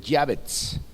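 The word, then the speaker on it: יעבץ: Jabes en el idioma original se escribe Yabetz, ¿ok?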